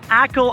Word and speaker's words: Achill: This is Achill Island. It's also kinda spelled like A Chill Island.